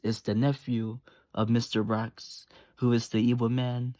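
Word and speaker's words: Rox: Rocks. Mr. Rocks is spelled R-O-X.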